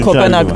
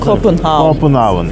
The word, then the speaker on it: Copenhagen: Tabii biz Kopenhag diyoruz ama aslında Copenhagen şeklinde okunuyor.